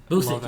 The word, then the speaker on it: Busiek: There's Marvels by Alex Ross and who is it, Busiek? Busick, yeah. Yeah, That's how you pronounce and it.